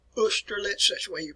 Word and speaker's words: Austerlitz: folks, it is a battle which is called Austerlitz. That's the way you pronounce it here, Austerlitz.